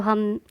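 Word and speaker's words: hymn: Again I am repeating silent letter D. Baij, जो हम तमगा लगाते हैं, बिल्ला लगाते हैं, उसे बैज कहते हैं।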